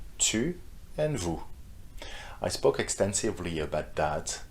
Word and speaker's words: vous: Vu, you don't pronounce the the s at the end either.